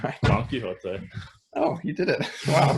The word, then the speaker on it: Don Quixote: Yes, because we'll never pronounce it the correct way. Don Quixote.